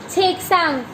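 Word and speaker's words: 책상: Third है छेकसांग। हाउ to pronounce? छ एग, छेग, स आंग, अंग बोलते हैं, ठीक है। तो क्या बन गया? छेकसांग।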